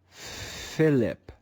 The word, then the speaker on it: Philip: aspiration in this word we find the english letter h in the digraph ph normally the consonant p makes the sound however when it's added to the english letter h in the digraph ph the sound is aspirated and becomes let's read this word